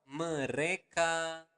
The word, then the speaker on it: mereka: So mereka makan setiap hari. Okay? One more time, slower. Mereka makan setiap hari. So again, you want to pronounce the letter R clearly. Mereka, not mereka, but mereka makan setiap hari.